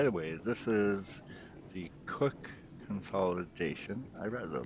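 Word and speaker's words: Cooke: still there the old cookies in the fire box because everybody called The Cook which is spelled c o o k e everybody called them cookies but in reality it's really just cook actually interesting to note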